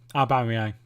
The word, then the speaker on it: Aubameyang: It's I don't know how to pronounce it. Aubameyang.